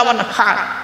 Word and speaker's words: ওয়ানহার: এই গলার ভিতর থেকে এটা উচ্চারণ করবেন, হাই হুতি, হাই হাওয়াজ নয়। ফাসাল্লি লিরাব্বিকা ওয়ানহার।